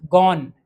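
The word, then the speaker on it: gone: First form में एन लग रहा है, गो, वेंट, गॉन, इसमें भी ई साइलेंट है।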